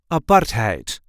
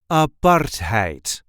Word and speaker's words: apartheid: how we say aparte aart heite make sure to pronounce the A and not make it into an i aart heite there is a light emphasis on the second syllable aite a part height a part height I